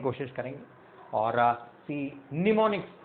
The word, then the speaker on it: mnemonics: इसमें कई वर्ड्स करने की कोशिश करेंगे और निमोनिक्स, इसमें एम साइलेंट है अगर हम देखें तो इट्स a term in English for memory enhancement या मेमोरी का इंप्रूव करने के लिए।